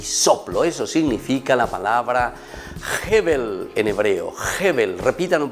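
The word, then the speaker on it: הבל: Eso significa la palabra Hebel en hebreo.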